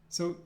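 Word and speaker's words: С: It's pronounced S. S. Now, I know it looks like a C, but imagine that it's like the C in sincere, and it's pronounced with a S sound.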